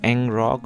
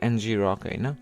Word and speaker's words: ngrok: is itself NG Rock I don't know how you pronounce Ang rock or NG Rock I do pronounce as NG Rock what does this mean